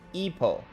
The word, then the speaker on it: Ipoh: It's pronounced Ipoh.